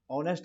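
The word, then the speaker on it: honest: चलो जी नेक्स्ट हमारे पास है, आर्टिकल भरना है, बलवीर इज ऑनेस्ट आ गया, एच साइलेंट होता है, ओ की साउंड आई, बॉवल आ गया, ए ई आई ओ यू आ गया, तो यहाँ पे एन आएगा, एन।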